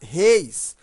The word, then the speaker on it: reis: se eu colocasse reis, veja que a pronúncia é fechada. Reis, e aí já não é acentuado. Mas réis, aí é acentuado porque temos a pronúncia aberta.